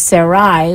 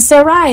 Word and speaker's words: Sarai: They think her name was always Sarah, but her name was Sarai with a yud at the end of it, and that is how it would have been pronounced in Hebrew.